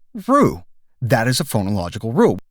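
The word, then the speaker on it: roux: you an example uh the french word rue is written r-o-u-x so it's not rooks or rogues it's rue that is a phonological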